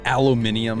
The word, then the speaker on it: aluminium: my did you say aluminium yeah just I said it the British pronunciation cuz it was more